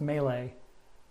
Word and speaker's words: melee: of you last time it's pronounced melee just just so you know because last time i was cruelly making fun of you for pronouncing it wrong but this time i'm